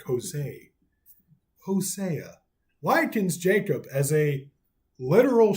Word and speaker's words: Hosea: Hosea, I always say that like Hosea. I say it like with a Spanish accent almost. Like Hosea.